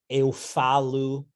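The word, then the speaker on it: eu falo: um yo hablo is eu falu right that last vowel is not an o in portuguese but an oo um ayakome elekomi where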